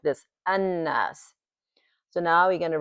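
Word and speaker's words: الناس: read it as this lamb is not even pronounced. We going in cover those later on but for now we're focuses focus is on the so we we read it like an don't even pronounce the lamb an okay how we describe it is noon.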